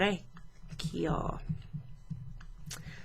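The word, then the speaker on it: orecchio: why so lo lo re kiyo so this kind of almost rhymes with the word vecchio which means old old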